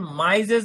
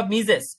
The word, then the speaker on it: Mises: এই সংজ্ঞাটি প্রদান করেন জার্মানি গণিতবিদ আর ভন মাইজেস বা মিজেস, উচ্চারণ যেটাই বলেন না কেন আপনি মনে রাখেন MISES, আর ডট ভন মাইজেস বা মিজেস।